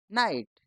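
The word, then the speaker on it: knight: ई knife के एन आई जी एच टी नाइट के एन आई टी नाइट के तो शुरू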